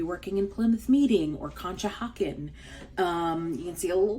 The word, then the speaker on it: Conshohocken: And Conshohocken, yes, that's how you say it, has a lot of different office parks.